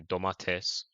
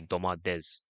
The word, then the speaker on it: domates: Like for example, people from Turkey say domates, innit? Yeah, people from Turkey say domates, and we say domades.